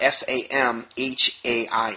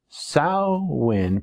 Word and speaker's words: Samhain: Now, the word is actually spelled out S-A-M-H-A-I-N, but it's actually pronounced from a pagan vernacular, Samhain. It's not from a pagan vernacular. I don't even know what pagan vernacular means. The word Samhain, pronounced Samhain and spelled S-A-M-H-A-I-N, actually comes from the Irish Gaelic dialect.